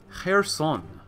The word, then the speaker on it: Kherson: Like, this says Kherson, but some would say, especially in Ukrainian, it'd be Kherson. Kherson, not Kherson, but Kherson.